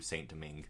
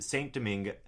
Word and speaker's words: Saint-Domingue: I'm just going to say it like you, Saint-Domingue.